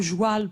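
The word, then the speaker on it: joual: Quand on dit le joile pour la langue du Québec et ben c'est comme ça qu'on dit le cheval en tourenne et en enjou on dit le jou. Le joile on prononce joil.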